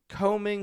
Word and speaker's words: comb: combing his daughter's hair combing his daughter's hair or comb the dog after you clean them comb the dog after you clean them combing the clean dogs no B sound the B is silent combing another you say